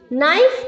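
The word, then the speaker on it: knife: फिर अपने नोटबुक पर अलग से उतार लीजिए नाइफ का के साइलेंट है निट का के साइलेंट है नॉप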